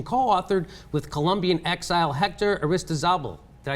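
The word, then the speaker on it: Aristizábal: activism and transformation co-authored with Colombian Exile Hector Arista zabel did I say it right you got you're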